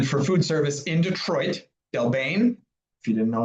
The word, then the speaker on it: Del Bene: And then for food service in Detroit, Delbane. If you didn't know it's pronounced Delbane, it's Delbane.